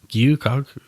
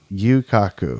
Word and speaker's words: Gyu-Kaku: And we're going to be talking about a restaurant today, which is pronounced Gyu-Kaku. Gyu-Kaku.